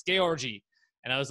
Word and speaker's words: Georgi: he's like you know that's an eastern european name it's georgie and i was like oh oh my god we've always said george i and he's like nope your family's saying it wrong it's gay orgy and i was like